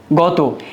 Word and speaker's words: গত: গত এ ত এর উচ্চারণটা উকারান্ত হবে।